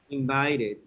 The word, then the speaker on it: invited: Invited. Yes, that's when you pronounce the ed.